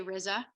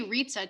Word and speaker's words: Rizza: people pronounce it but usually i say rizza ariza works you could say ritza too like pizza that's fine okay i